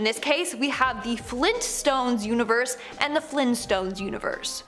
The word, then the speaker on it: Flintstones: button if you agree Now The Flintstones are pronounced as so so you would think it would be spelled as so no apparently it's the Flint stones with the hard tea uh I refuse to